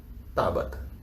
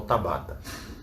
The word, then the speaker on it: Tabata: que se destacou chama izumi Tabata ou Tábata que você quiser pronunciar a e esse estudioso em